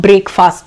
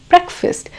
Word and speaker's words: breakfast: Breakfast, it's not breakfast. Yes, we are breaking the fast, but it is breakfast. The correct pronunciation is breakfast.